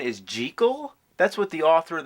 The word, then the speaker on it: Jekyll: You know that the proper pronunciation is gel?